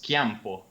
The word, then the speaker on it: Chiampo: That's fine, but it's because I think Italy is one of the few countries where C and H are pronounced like K.